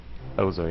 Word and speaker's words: Ozo: How do I pronounce this again? I know you went over the names with me. Ozo? Is that right? Ozo, yeah. Okay, yeah, this guy's a clown.